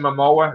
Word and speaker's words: Momoa: Jason Momoa, is that how you say his name? Momoa, yeah.